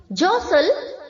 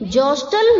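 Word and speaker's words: jostle: सल्ट जसल यहां पर एक चीज बच्चों ध्यान रखनी है टी साइलेंट लेटर है तो हमें जोस्टल नहीं बोलना है ओके जोस्टल जोस्टल जोस्टल ऐसे बिल्कुल नहीं बोलना है जसल ज सल्ट जसल टी साइलेंट है ओके तो उसे हमें प्रोनाउंस नहीं करना है क्लियर सेम मीनिंग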